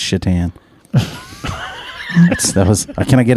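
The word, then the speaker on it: Šatan: goalie one of my favorites chatan it's not Satan Mom it's shitan that's those can I get a can I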